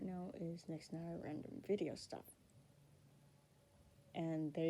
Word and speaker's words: Nixienire: On YouTube, which is the current name right now, is Nixienire Random Video Stuff. And there you go. That's how you pronounce the channel's name, because I know a